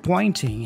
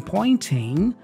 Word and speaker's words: pointing: The word pointing has this combination of N and T. Usually when you have that combination of N and T, especially in American English, the T tends to be dropped.